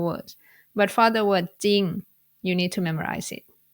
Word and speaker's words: จริง: For example, จริง สร้อย สี And even if you want to pronounce the รอเรือ cluster in these words, it's going to be hard. For example, ตริง สร้อย สรี So you don't need to force yourself to do that. You just ignore รอเรือ consonant sound and pronounce it without the cluster sound.